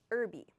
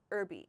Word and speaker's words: herby: Next one is herby. Herby. In American English we say herby. We do not pronounce this H at the beginning, herby, okay?